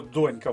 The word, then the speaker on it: донька: зважають в нашому випадку слово донька в першому реченні перше слово наголос на першому складі а це означає що